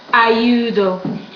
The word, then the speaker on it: ayudo: How do you pronounce this one? U. And this one, O. Together, ayudo.